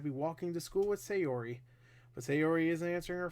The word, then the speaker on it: Sayori: It's Sayori. It's just the two words, Say and Ori.